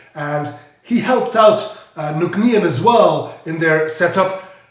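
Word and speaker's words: Nc'nean: an n and then you will go like nuknian eureka you've just pronounced the name of this distillery correctly it's called nuknian that's how you pronounce the name of this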